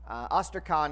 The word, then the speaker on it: ostrakon: Ostrakon is the singular form, and ostraca is the plural form. And you might recognize this sounds like the word ostracize, and they actually are